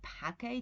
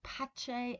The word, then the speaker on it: pace: most correct transition because it comes from Latin and that's supposedly how we pronounce the C but you can hear also patch a and Pacey right and this is